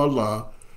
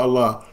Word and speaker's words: Allah: A E I repeat whenever a e or CRA come before Allah the sound becomes flat on Allah another example we don't